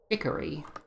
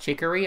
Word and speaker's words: Chicory: passed down through the ages but current wielder hickory oh by the way it is pronounced chicory i looked it up um it's a real